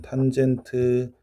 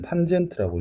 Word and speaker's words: 탄젠트: 자, 그래서 탄젠트 B. 요거는 탄젠트라고 읽어주면 되거든. 탄젠트.